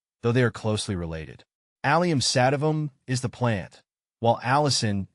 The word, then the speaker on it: Allium sativum: taste how to pronounce aliam satam the pronunciation of aliam satam is fairly straightforward once you break it down it's pronounced as emphasize the first syllable of each word and you'll be saying